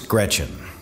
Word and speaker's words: Greczyn: i do uh yes it is pronounced gretchen just like the girl's first name it's g-r-e-c-z-y-n and it's